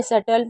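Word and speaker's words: subtle: यानी कि B silent है। इसे सटल पढ़ रहे हैं।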